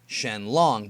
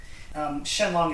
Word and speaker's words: Shen Long: But the Chinese pronunciation for this character for dragon is Long, and the Japanese reading is Ryu.